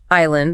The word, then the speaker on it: island: Island. That silent is enough.